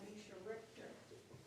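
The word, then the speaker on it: Mischa Richter: Well, we have a wonderful cartoon two here by Misha Richter. And is that how his name is pronounced?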